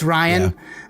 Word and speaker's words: Rian: Is it Ryan or Rian Johnson? Ryan is going Ryan to. Johnson. It's Ryan.